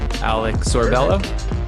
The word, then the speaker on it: Alec Sorbello: So without further ado, my conversation with Alec Sorbello. Enjoy the rant. Well, welcome to the podcast. We could start right there. Alec Sorbello. Am I saying your name right? Yeah, you did.